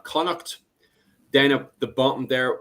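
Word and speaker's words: Connacht: Uh, the pronunciation of these, by the way, is if you look at the very north there in the green spot, uh, you have Olster. Then in yellow, we have Conuct.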